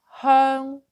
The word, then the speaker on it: 香: With H sound in the beginning, then we will pronounce this as hung, hung.